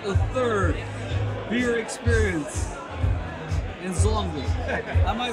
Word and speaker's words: Zolder: And so, tell us about what's happening at the third beer experience in Zolder. Am I saying it right? Yeah, you are. It's Zolder.